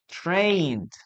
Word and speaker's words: trained: She trained for a marathon. Train is trained. Remember, we don't pronounce the letter E here.